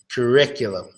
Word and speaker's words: curriculum: sound Rick Rick is cool Rick's a dick curriculum Rick's a dick with his curriculum ok so if you can't pronounce as properly is probably because of the